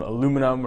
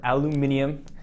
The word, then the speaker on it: aluminium: upside down looks like some aluminum or aluminium as some of you like to say with some plastic on